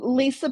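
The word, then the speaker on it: Lysa: name my first name is spelled L YSA. And so I always say that I am Lisa with a Y. A wh just kind of helps people remember. It's like yes, my name is pronounced normally. It's just funny.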